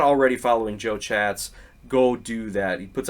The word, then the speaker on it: Chatz: you're not already following Joe chats go do that he puts out a lot as he calls him little chats because his last name is spelled c h a TZ when he does interviews